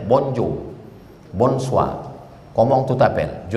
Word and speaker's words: bonjour: Tulisannya bonjour, cara bacanya bonjour, bonsoir, comment tu t'appelles, je ne parle pas français.